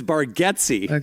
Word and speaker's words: Baretti: And Nate's like, "Yeah, but you've always said my name wrong, buddy." So, it's Baretti.